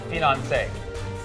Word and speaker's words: finance: You want to just pronounce it however you like, I say finance, because it rhymes with Beyonce and she has a lot of money.